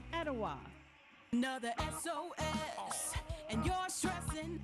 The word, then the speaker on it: Etowah: minute I'm Dwayne from Cleveland Tennessee and it's pronounced Ocoee Etowah and hawasi Adam Denver asoe hawasi itoa I'm